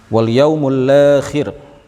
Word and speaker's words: wal yaumul akhir: Wal yaumul akhir, bacanya begitu ya, sesuai dengan apa yang dijelaskan oleh Al-Baijuri atau Al-Bajuri dalam syarah Jauharah At-Tauhid.